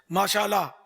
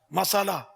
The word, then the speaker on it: ما شاء اللہ: اب وہ آج کل کے تلفظ کے ساتھ کہے گا تو شاید فائدہ نہیں ہوگا, جیسے ماشاءاللہ مسالہ, اس سے تو کوئی فائدہ نہیں ہوگا. ما شاء اللہ, ما شاء اللہ, ما شاء اللہ.